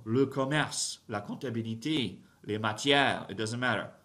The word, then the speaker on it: comptabilité: La comptabilité, comptabilité, don't pronounce the P, comptabilité, has an accent on the end, so you have to do something with the E at the end, comptabilité, comptabilité.